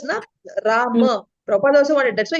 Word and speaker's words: Rama: also, you will see R-A-M-A. They don't say R-A-M. Everywhere you see R-A-M-A. So Rama. So if you're focusing on that pronunciation, then, when you're focusing on, am I saying Ram by mistake, by practice?